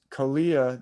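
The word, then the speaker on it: Kaliya: kalia is so kalyanag he's called the khalia nog or the kalia naga uh it's spelled k-a-l-i-y-a kalia that's his name and then he's a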